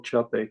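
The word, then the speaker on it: Čapek: surname as me um Carl chapek was the correct pronunciation of his name and uh he was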